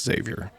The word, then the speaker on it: Xavier: Not to be that guy, but it's Xavier.